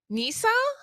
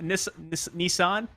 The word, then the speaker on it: Nissan: Okay, is it Nisa or Nissan? I've been butchering it as well. It's Nissan. Nissan.